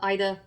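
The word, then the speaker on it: Aida: And with that, it mentions using, for example, if I mispronounce, I'm sorry, Ida, I believe it's Ida, A-I-D-A.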